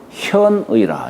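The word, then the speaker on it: 見: 제천성상코 제지성형 형하니 변화 현의라. 이게 볼자를 현이라고 읽어요. 나타날 현.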